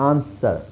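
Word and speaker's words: answer: ಅಷ್ಟೇ hole hole double silent ಆನ್ಸರ್ double ಅವಶ್ಯಕತೆ ಇಲ್ಲ ಅಲ್ಲಿ ಆನ್ಸರ್ ಎಎನ್ಎಸ್ ಈ ಆರ್ ಇಷ್ಟು ಉಚ್ಚಾರಣೆ ಬರೆದರೆ ಸಾಕು ಆನ್ಸರ್ ಆನ್ಸರ್ ಆಮೇಲೆ ಇದು ಡಬ್ ಇಲ್ಲೂ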